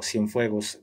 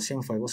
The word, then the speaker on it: Cienfuegos: Estamos hablando cuando es detenido Cienfuegos, ¿en el 2020 o en el 21?